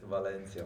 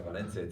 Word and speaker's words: Valencia: go i don't know just pronounce it like balance yes valencia valencia if you don't it's not valencia so as